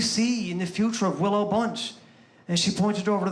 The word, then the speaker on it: Willow Bunch: You guys don't say Willow Bunch. You say Willowbunch.